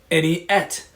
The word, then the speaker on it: Eni Et: It's any like anything and et, any et.